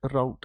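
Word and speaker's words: route: द रूट, इसकी दोनों pronunciation होती है, रूट राउट, ठीक है।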